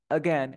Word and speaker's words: again: perfecto ni siquiera Suena la a es como Again Again es super rápido Again Again sigui an